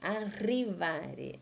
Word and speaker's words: arrivare: Tem que lembrar do R, hein? Arrivare. Arrivare.